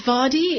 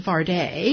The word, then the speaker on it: Vardey: for us well it's vadi in english okay and um chaka khan calls me faraday okay and then her bass player calls him vardy because it rhymes with party what would you like